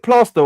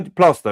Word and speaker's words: Plaistow: His auntie lived in is it Plaistow or Plaistow? How Plaistow, isn't it?